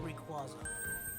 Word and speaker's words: Rayquaza: say rayquaza or rayquaza you turn now it's rayquaza who's rayquaza piss everyone off hey new area